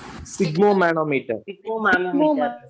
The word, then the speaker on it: sphygmomanometer: So what is the instrument pronunciation? How to read? Sphygmomanometer.